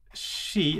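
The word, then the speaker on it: し: spelling as well but it's always pronounced as she and that is also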